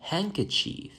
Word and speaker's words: handkerchief: And not only in Wednesday, but also in words like handsome or handkerchief. It is also silent.